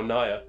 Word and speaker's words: Ngaiire: It's spelled as N-G-A-I-I-R-E. But it's pronounced Naya, I believe.